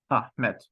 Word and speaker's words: Ahmet: it's Adam Adam ahm let's try to pronounce after me okay Adam ah met great job you've just